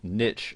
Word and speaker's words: niche: And first and foremost, you'll need to decide what your niche, or niche as some people pronounce it, is going to be.